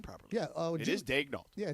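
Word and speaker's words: Daigneault: The scouting report, by the way, great job pronouncing his name properly. Yeah, it is Dagel.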